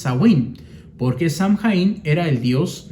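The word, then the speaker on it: Samhain: que se llamaba zawin algunos dicen que era samhein pero la pronunciación correcta es zawin porque samhein era el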